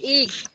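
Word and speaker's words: egg: এটি একটি ডিম উচ্চারণটা হবে ইগ ভাইগ্যা আমি তো ওই যে মাদ্রাসায় পড়ছিলাম বাংলায় যতটুক ক্লাস করাইছে অতটুকই এত কিছু শিখেছে কিনা মনেও নাই।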